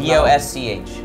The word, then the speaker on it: Bosch: Like Bosk the Bounty Hunter? Spell it. B-O-S-C-H. Bosch. Bosch. It's like the audio sound.